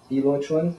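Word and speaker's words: Biluochun: So sometimes you'll see this B-I-L-U-O-C-H-U-N, PiLoChun. Sometimes it's P-I-P-L-O-Lo-Chun. Different pronunciations depending on the dialects in which people talk about it, because there are several dialects in the Chinese language, regional dialects.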